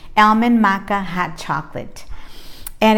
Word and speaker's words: maca: way to remember is vaca rhymes with maca so you know it's